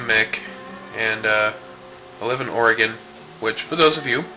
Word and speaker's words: Oregon: So, it is pronounced Oregon. Oregon.